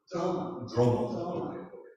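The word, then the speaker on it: Drolma: Droma. Right? So don't pronounce the L.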